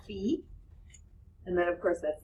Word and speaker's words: phi: say Rho all right this symbol right here is called fee and then of course